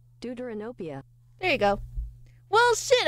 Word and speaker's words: Deuteranopia: Pronunciation. Deuteranopia.